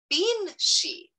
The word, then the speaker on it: banshee: to screeching um and more popularly pronounced bean she which just like we